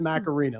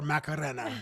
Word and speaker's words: Macarena: and I also macarina or macarena. Yeah. In fact, the way that Dan said it is probably the right way.